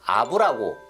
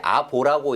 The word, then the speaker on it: 亞父: 그러니까 항우와의 관계 자체도 분명하게 드러내지는 않지만, 적어도 항우는 아부라고, 보통 이제 아보라고 이렇게 발음을 하기도 하는데, 가짜 아빠, 작은 아빠 뭐 이런 정도인 셈이죠.